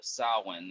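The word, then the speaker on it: Samhain: not how it's meant to be pronounced it's pronounced s uh sin and I'm like then change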